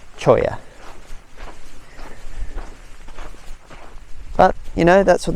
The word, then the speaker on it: cholla: So I called it Cholla Cactus Gardens. Such a white guy pronunciation. I apologise. The correct pronunciation, so far as I understand it now, in my new learned state, is Choya. So not Cholla, Choya.